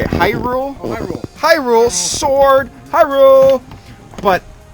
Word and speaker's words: Hyrule: rule how do you say that they say Hyrule Hyrule sword Hyrule but it's in here we